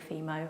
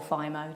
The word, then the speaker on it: Fimo: I use a polymer, which is actually a children's clay, coloured children's clay called Fimo, or Fimo, depends how you want to pronounce it, which is ideal.